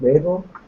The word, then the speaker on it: Mabel: Is it Mabel?